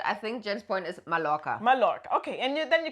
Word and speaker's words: Mallorca: So the correct way would be a double L is always a J, like a Y. So Mallorca. And 1 L is always an L, like tequila.